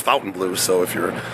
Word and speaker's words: Fontainebleau: front of the F Fountain Blue Fontaine Blue whatever you want to say I think it's actually pronounced Fountain Blue so if you're saying it differently it's Fountain Blue I did a little